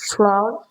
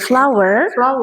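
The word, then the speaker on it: flour: I need a flow. Oke. Flower. Heeh. Pengucapannya seperti kata bunga ya.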